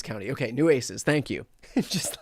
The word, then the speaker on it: Nueces: Nueces County. Okay, Nueces. Thank you. Just like everybody giving me the phonetic pronunciation.